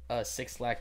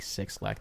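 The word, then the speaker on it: 6LACK: shirts I'll say like six lack pronounced black used to call six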